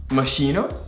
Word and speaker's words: Moschino: Moschino? Jesus, okay. Seriously, is that how you... Well, yeah. I've never heard of this one before. CH is? K. K. K. So it's Moschino.